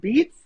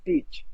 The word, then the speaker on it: Beach: And people are like, is it Beats? And they know it's beach, just like the beach. And it's just like it sounds and just like it's spelled.